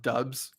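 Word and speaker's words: Doubs: as soon as they figure out that it's pronounced dubs i don't think that's set in yet once they figure it out they're gonna go crazy he will always be dupes to me dubs would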